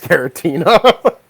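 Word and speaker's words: Giratina: I don't have any, so that's Gratna. fine. Gratna. Now, see, if I know you're doing it ironically, then I'll ignore it. Because you know damn well I know how to pronounce Garatina.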